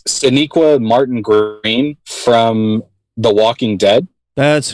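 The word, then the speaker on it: Sonequa Martin-Green: make sure i say her name right it's siniqua martin greene from the walking dead that's who i had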